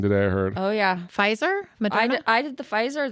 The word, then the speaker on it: Pfizer: Pfizer?